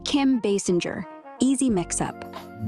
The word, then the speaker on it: Basinger: It's Kim Basinger. Easy mix-up. It's Kim Basinger, spelled B-A-S-I-N-G-E-R. No SS, just like bass, plus singer without the G sound.